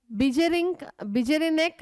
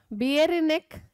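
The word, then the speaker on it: Beijerinck: Bjerinek athwa Bjerinek hego adru pronounce maadabodu in 1898 demonstrated that the extract of the infected plant of tobacco could cause infection in healthy plant.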